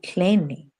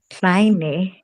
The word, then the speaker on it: kleine: So when the E comes before the I, how do we pronounce it? I. My kleine, right?